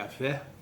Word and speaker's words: Yahvé: Jeová é uma pronúncia, esse aí é o tetragrama, é o nome mais atribuído a Deus, YHWH, pronúncia, segundo os linguistas, seria Yahvé.